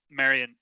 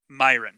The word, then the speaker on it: Myron: As the edge of the cart's aura, which none of you except Marion, or how do you pronounce her name again? I want to get it right. Myron. Okay. Myron, only Myron can see the